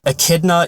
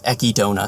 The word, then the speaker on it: Echidna: So once and for all, Echidna is the correct way to say it, but the Japanese pronounce it Echidna, so Echidna is what